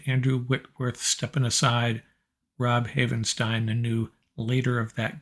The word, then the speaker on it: Havenstein: 8 million dollars a year dj humphries of the cardinals offensive lineman 19 million number 17 our own rob havenstein rhymes with frankenstein just remember that nine